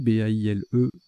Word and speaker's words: baile: Baile, B-A-I-L-E, qui est un nom masculin qui se prononce Baile.